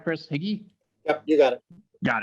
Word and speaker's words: HIGI: Did I pronounce that right, Chris? HIGI?